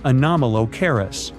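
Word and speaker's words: Anomalocaris: The name is a bit tricky to pronounce, so I'm not going to. Okay. Okay. It's anomalis, but it just literally means unusual shrimp.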